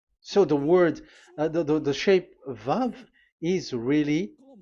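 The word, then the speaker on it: ו: So the way we read it is VAV. So we wrote it as VAV. We called it as VAV. VAV. Your mouth is like closed. VAV. So it's V as in Vogue. So it's really V.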